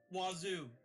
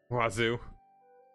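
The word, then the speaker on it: oiseau: Wazoo. Wazoo. Yeah, that's French for bird, but it's not spelled in any way that makes sense. Every single letter is pronounced wrong.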